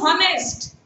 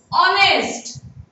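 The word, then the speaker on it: honest: केते जण पिला पढुछन्ती हनेस्ट एडा हनेस्ट नै एडी एच टा साइलेंट रहियो ऑनेस्ट ही इज ए ऑनेस्ट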